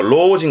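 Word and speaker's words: 老人: 늙을 로자 발음은 로해서 로징 갈까요?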